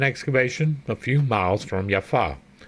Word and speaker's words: Jaffa: much like with Yeshua there was no J it was y the J was a really a why that is why I pronounce it yafa and why I pronounce it Yeshua and yeesus considering the